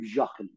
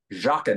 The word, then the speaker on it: Joughin: correct pronunciation of Sid Baker it's Chief Baker Jacqueline Jacqueline and how do you spell that because it's it's unless you know how